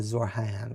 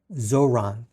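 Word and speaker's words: Zohran: Uh, it's not Zorayan. It's uh, where' it go? Zoran Zoran Z Han Zoran Mandani.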